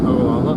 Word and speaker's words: Ogallala: Ogallala?